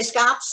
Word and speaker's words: scops: Joe, or is it pronounced Scopes owl? White browed owl, very well named. How about scops? You say scops? Okay, good. I say scops.